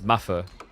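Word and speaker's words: maðr: So, Madr is Matha. The easiest way is just think Math and And the interesting thing is actually it just means man.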